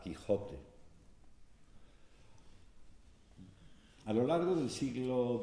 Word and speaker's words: Quijote: Por ejemplo, ¿cómo se pronunciaba la palabra que hoy articulamos con una velar, Quijote?